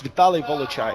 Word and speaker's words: Vitali: It's Vitali Volai.